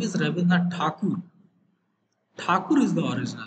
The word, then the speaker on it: Thakur: Tagore is the name given by the Britishers because they cannot pronounce Thakur. They were pronouncing Thakur, Thakur, Thakur as if. So Thakur that is became a Tagore.